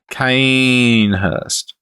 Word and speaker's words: Cainhurst: me finally because that's the correct way to pronounce it kind Hirst cainhurst the Australian one cainhurst Ghana cainhurst get some tinny's